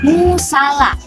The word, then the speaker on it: musala: Jika ditinjau dari realisasi fonem, praktik pelafalan menggunakan penekanan di setiap suku katanya. Contohnya, musala.